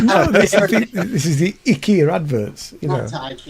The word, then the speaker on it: IKEA: suddenly IKEA, which has been IKEA forever here, is suddenly IKEA. Oh, is According it? to all the adverts. IKEA.